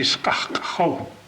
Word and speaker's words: Skakho: Skalko is not Skalko. People that was trying to write that, they couldn't pronounce the word, they couldn't write it. So it becomes Skalko. And the name is really Skakho.